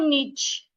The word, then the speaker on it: niche: It's not niche. It is niche.